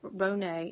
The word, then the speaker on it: Renee: Renee is how you say her name, Harden.